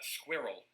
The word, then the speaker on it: squirrel: semi-final ah yes uh squirrel squirrel we're all one syllable more or less it is